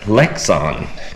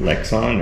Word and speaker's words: Lexan: This is Lexon glass.